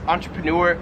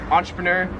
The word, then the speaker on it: entrepreneur: So I've always pronounced this entrepreneur. In Australia they pronounce this entrepreneur, so like entrepreneur.